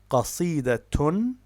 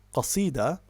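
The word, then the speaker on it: قصيدةٌ: So, for example, the word is qasidatun. Qasidatun. So, what its pausal form is qasida, 3 syllables, but in classical Arabic, when we have case marking, we read it as qasidatun, which gives us 4 syllables, or al-qasidatu, which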